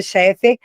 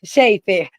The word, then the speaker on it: Shefer: Cheffer Chiffer, sempre pronuncia seu nome errado. é Shefer. Dr.